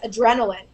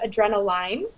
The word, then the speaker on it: adrenaline: why that is but another example of something that's pronounced that way is adrenaline you say adrenaline instead of adrenal line i don't know why because l-i-n-e is pronounced line yes um but i guess